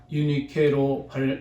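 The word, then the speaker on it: Εὐνίκη: 그런가 하면 이 유니게는 헬라어로 유니케로 발음이 되는데 이 말은 뜻은 명예로운 정복, 행복한 승리라는 그런 의미를 가지고 있습니다.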